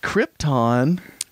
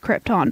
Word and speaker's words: Krypton: the locals actually say Krypton, but it's Krypton. It's spelled Krypton, and if people could pronounce things properly, it'd be Krypton, but yeah. the locals do call it Krypton.